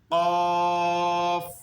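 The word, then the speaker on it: قاف: কফ থেকে নিয়ে এরপর যে হরফগুলি রয়েছে অতি সহজ হরফগুলি, তবু আমরা দুই ভাগেই পড়ব ইনশাআল্লাহ, যেন আপনাদের কষ্ট না হয়।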